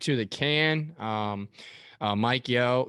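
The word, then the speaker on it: Yeo: the can um uh mike yo yeah i believe how you say it why yes no yeah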